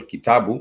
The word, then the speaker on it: kitabu: just put this down you realize it ends with a b u it ends with the bu and the bu has the syllable sound boo oo and to the syllable sound the guitar boom ends with the syllable sound ooh and that is how